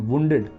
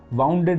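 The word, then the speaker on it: wounded: काफ़ी Indian soldiers घायल हुए थे, तो वही है Indian soldiers वांटेड return, वुंडेड, वाउंडेड नहीं, वुंडेड रिटर्न, ये भी पता होना चाहिए आपको प्रोनाउंसिएशन।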